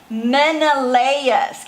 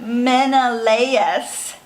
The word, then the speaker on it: Menelaus: say these words I might throw them up Menelaus you say that Menelaus conviction convinced his brother Agamemnon Agra Midna Menelaus